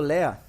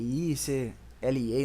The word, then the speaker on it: LEA: Lea, lia, lei, lea no caso, a pronúncia que vocês quiserem, tá? Eu prefiro chamar de lea.